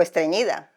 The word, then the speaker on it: estreñida: O estreñida. How do you say sneeze? Estornudar. Estornudar. Estreñida. Estreñida. Estreñida? Ñi. With the ñ.